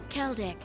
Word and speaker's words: Keldic: This train is bound for Bereahard via Keldic. I keep pronouncing it Zeldic.